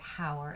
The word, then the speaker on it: hour: an hour from now because of the silent h because you don't pronounce the word hour it's our so it has to